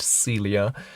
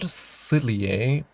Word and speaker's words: Celia: Uh, as the proxy of the sun, the part sunset celia, not silier, but celia. Okay, interesting.